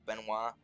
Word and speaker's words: Benoit: Uh, their name was Benoit, but it makes more sense for it to be pronounced Benoit. So that's how it's pronounced now, Benoit.